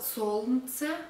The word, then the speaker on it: солнце: We spell солнце, but we pronounce солнце. Not солнце, but солнце, we don't pronounce all.